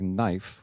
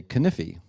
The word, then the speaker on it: knife: don't even realize it you take a word like knife which I use with my students and I say if I was going to say it the way it looks I'd say caniffi which I think is